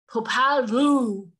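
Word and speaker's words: Popol Vuh: And his name is, I had to look it up and say it correctly, Popalvu.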